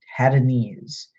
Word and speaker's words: Tadanes: it's just sigh zai zai five Ted anees had a knees this is a culture known for its culinary